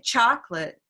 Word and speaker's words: chocolate: hands so if i say chocolate and that's one valid way to say it let's say chocolate chocolate cha so by doing that we have now located the stress which is on the first syllable okay we've done our